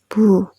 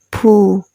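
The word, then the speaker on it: ဘူး: Present tense, the pattern is ma, past tense, bu. Ma, past tense, bu. We also pronounce bu like pu, pu.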